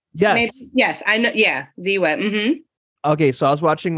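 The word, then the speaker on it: Ziwe: on the show yes yes I know yeah Zee whip okay so I was watching one of her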